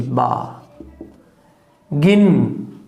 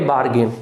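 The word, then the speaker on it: bargain: चर्चा की थी AR हमेशा आ का साउंड देता है। बा, ये लो जी, बा, गिन, ये लो बागिन, बागिन, नॉट ए बार्गेन, गलत है।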